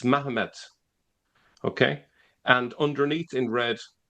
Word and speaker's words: Mahomet: So Mahomet is how it was pronounced, even if they say, well, maybe it's not a T, maybe it's a D.